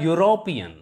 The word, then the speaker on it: European: yeah for example a european here this beginning sound beginning let us e and u produce a u sound and this e sound